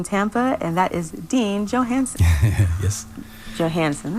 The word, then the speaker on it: Johanesen: You're tuned in to WNF's live music showcase in Tampa, and that is Dean Johanesen. Yes. Johanesen, right? Yeah. Johanesen.